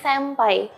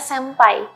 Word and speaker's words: senpai: yang belum tahu ternyata pengucapan kata ini tuh bukan sampai tetapi sampai karena aturannya kalau huruf N bertemu dengan huruf P atau b maka pengucapannya menjadi m makanya kita menyebutnya sampai bukan senpai ya Selain sampai juga